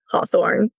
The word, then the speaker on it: Hawthorne: It's just at Hawthorne. There's a silent E on the end of Hawthorne.